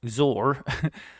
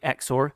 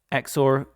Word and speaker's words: XOR: And this one, XOR, which I used to pronounce XOR, that's actually how you say it apparently, XOR. I'm going to test this one out, so up we go. XOR, click on it, and it's basically just subtracted that middle portion there.